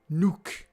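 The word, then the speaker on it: Windy Nook: Pronounced Nook like a Jordy. Nuke. Windy. Nuke. There you go. Sounded like you said knock.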